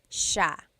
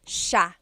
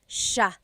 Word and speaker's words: siya: It looks like it should be pronounced siya, siya, but it's actually pronounced sha, sha. So the S-I-Y, it's a sha sound, sha.